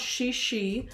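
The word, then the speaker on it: 慈禧: The Empress's name is Empress, I think it's pronounced Shishi. I'm going to put it in the chat. It's Cixi.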